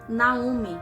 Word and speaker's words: Naomi: Do original, Naomi, que seria a pronúncia correta do nome de Noemi.